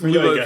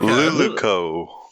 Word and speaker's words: Luluco: Let's go with Luloko, because I feel like that's the. Fuck It off, triggers me Jonas. because you mispronounce it every single time, Tom. Every time. Every fucking. What, Luluco? Luluco.